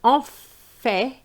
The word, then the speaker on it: en fait: And en fait is very close to on fait. So that's the reason why I believe that we have to pronounce the T.